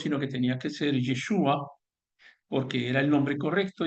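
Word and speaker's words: ישוע: sí, por supuesto que tiene un origen en el arameo galilaico y sí se pronuncia en algo parecido como Yeshua y lo estoy pronunciando seguramente mal porque yo no conozco el acento ni las ni los matices del idioma.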